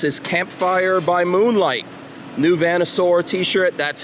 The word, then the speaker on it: Vanasaur: New Vanasaur T-shirt. That's how you pronounce that.